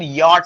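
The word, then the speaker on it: Wyatt: इनका pronunciation यॉट होगा, WY से या निकलेगा।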